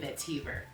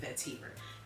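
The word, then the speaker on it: vetiver: Some musk, sandalwood, amber, pachuli, and vetiviver. Shout out to my mom. She corrected me on how to pronounce it. Vetivver. It feels weird, but I know it's right.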